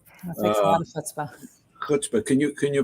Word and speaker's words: chutzpah: I think it's because there is no sound. You got to get a little phlegm on the soft palate.